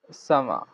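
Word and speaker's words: summer: প্রথমে আছে সামা, সামা, সামা। এখানে দেখি আমরা ইংলিশের শেষে আর থাকার কারণে এর আরটা উচ্চারিত হয়নি, যার কারণে ব্রিটিশ প্রনাউন্সিয়েশন হচ্ছে সামা, অর্থাৎ গ্রীষ্মকাল।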